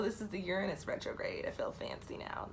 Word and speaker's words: Uranus: like most of us we've been saying Uranus for years it's Uranus it's actually not even you're honest its Uranus so this is the Uranus retrograde I feel fancy